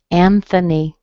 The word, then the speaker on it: Anthony: Anthony, same kind of thing.